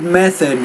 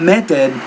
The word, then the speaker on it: method: Okay, first of all, the word method. When you say that, you want to pronounce it with the tongue between your teeth. Not method, but method.